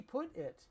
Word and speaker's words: put: Where did he put it? Where did he put it? Where do he put it? And it's pronounced put it. The t in put is pronounced like a d.